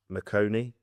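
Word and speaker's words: Maconie: you embarked upon another partnership with uh Stuart McConey. Is that how it's pronounced?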